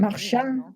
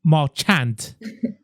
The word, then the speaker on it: Marchand: That's how we're going to be pronouncing his name, except for Jeremy, I presume, because, Marchand sounds like a French name. Marchand. Marchand.